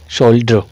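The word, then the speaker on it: shoulder: तरह से बोलते हैं थोड़ा सा उ का साउंड आ जाता है यहां पे हल्का सा शोल सोल डो सोल्डो ठीक है अच्छा ये बोलते हैं ये इसी को बोलते हैं सोल को तो सेम ही बोलेंगे लेकिन ये इस तरह से बोलते हैं इस ड को आधा और र को भी आधा इस ड को भी आधा और र को भी आधा बोल देते हैं शोल्डर क्या बोलते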